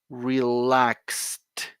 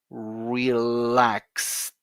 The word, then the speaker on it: relaxed: and one more time you got this Ed pronunciation relaxed okay so it is not it is not relax it uh uh uh uh uh uh no it is one more time relaxed there you go there you go that's the